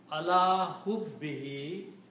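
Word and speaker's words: عَلَىٰ حُبِّهِ: And for pronunciation easiness, we pronounce this dhamma also a kasra. So it becomes ala hubbihi, for the sake of his love, or for his love, for the love of Allah.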